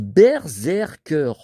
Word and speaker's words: Berserker: Alors, ça se prononce Berserker.